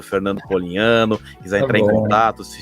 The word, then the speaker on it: Polignano: Fernando Polignano, né? O meu nome, o GN é mudo aí no meio, as pessoas se atrapalham um pouco, mas é igual nhoque, igual champanhe, né? Nada tão complicado assim.